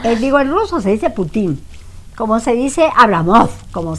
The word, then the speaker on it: Putin: Es que se pronuncia así en polaco, digo en ruso se dice Putin, como se dice Abramov, como se dice Davidov, no se dice Davidov.